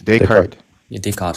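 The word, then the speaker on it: Descartes: How do you pronounce it exactly? It's Decart.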